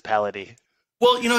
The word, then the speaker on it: Paladie: So we pronounce it two ways. So Paladie is the way that half my family says it, and my half of the family says Paladie.